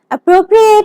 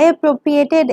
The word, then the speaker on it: appropriate: build a better fence don't confuse the pronunciation of the verb to appropriate with the pronunciation of the adjective appropriate when Congress decides to